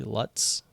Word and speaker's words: Lutz: where most people know we actually lived in Lutz or that's what it's called there it's spelled like LUT Z Lutz but it's pronounced Lutz which is like 20 minutes north